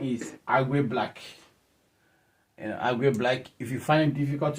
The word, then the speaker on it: Agwe Black: My name is Agwe Black. Agwe Black. If you find it difficult to pronounce it, just the short form of Agwe Blee.